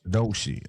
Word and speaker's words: Doechii: I know it was over because he was being disrespectful to Doechii Doechii. Ain't that how you say her name? Yeah.